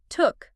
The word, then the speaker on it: took: The past simple took has a short ooh sound like in book or look. Not long like spook.